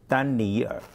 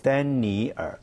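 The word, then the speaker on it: 丹尼尔: Okay, in Chinese we'll pronounce for three words. Dan ni er. Oh, that's why. So three words. Three in words. Dan ni er.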